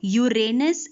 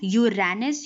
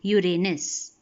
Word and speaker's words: Uranus: Uranus Neptune now it is please remember the pronunciation of this is Uranus and not Uranus you will hear many people pronouncing it as Uranus the correct pronunciation is Uranus let's repeat the names of all the eight